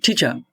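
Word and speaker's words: teacher: খাসো হি ইজ মাই ঠিা মাই িচা এখানে টিচার হবে না এটা হবে হি ইজ মাই টিচা মাই কার এখানে আর উচ্চারণ হবে কারণ আমি এর আগেই বলছি যে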